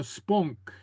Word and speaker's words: spong: So almost the same, except it doesn't have this soft ending. It has more of a K type ending as spunk.